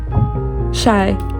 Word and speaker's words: Chai: And then Blakely again, Haley, and Shy, that's her name. It's spelled like chai, but she's very cool.